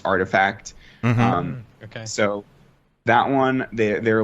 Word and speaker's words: RTFKT: You know, there's this the RTFKT Studios. It's actually pronounced Artifact.